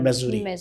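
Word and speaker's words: Missouri: base मेजोरी मेजोरी या मेसोरी मेोरी कुछ उसको उर्दू में मैसूरी लिखते हैं इसकी प्रोनाउंसिएशन है मेजोरी ये रियासत है अमेरिका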